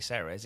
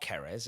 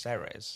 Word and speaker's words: Ceres: It's definitely Ceres. It's not Keres. It's not Jerez. It's not Ceres. It's Yeah. just Ceres.